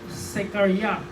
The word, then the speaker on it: Zechariah: que el nombre Zacarías, que si usted lo busca en el original hebreo, se pronuncia Zechariah, que significa de quien